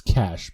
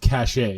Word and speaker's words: cachet: It's cash, but yeah, thank you. What's that? It's cash, but thank you. It's cash. It's one of my pet peeves is when Americans pronounce it cachet.